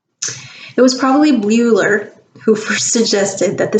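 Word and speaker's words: Bleuler: it was probably bl bluer bluer e-l-e-u-l-e-r it's weird to pronounce because the l after the b ruler german surname it was probably bueller who first suggested that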